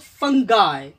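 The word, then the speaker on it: fungi: आई है वो आई अपना जो बेसिक इसका प्रोनाउंसिएशन है उसी के रूल पर ये चलेगा। इसको पढ़ेंगे हम लोग फंगाय, फंगाय यानी आय, इसको पढ़ते हैं हम लोग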